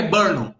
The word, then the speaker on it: Brno: Se escreve Brno, mas é Brno.